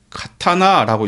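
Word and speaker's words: 刀: 우리말로는 칼, 도, 칼검 모두 칼인데 도는 카타나라고 읽고 검은 캔이라고 읽어요.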